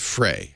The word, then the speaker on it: Frey: me so um figurative James fry or is it Frey how do you pronounce his name I think it's fry fry or Frey spelled Frey I like novel